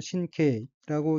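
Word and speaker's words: 神経: 다음 어휘는 한자가 한국어로 신경이고 일본어로는 신케이라고 읽으며 신케이는 신경이란 뜻입니다.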